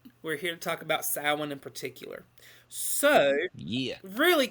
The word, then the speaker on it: Samhain: Tonight, we're here to talk about Samhain in particular.